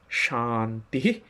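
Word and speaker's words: শান্তিঃ: জন্য তাহলে কি কি হলো চারটি শব্দ ওম শান্তিহি শান্তিহি শান্তিহি এই হলো চারটি শব্দ আর এটিকে যদি আপনি উচ্চারণের বিধি মেনে এবং স্বরভেদের বিধি মেনে করতে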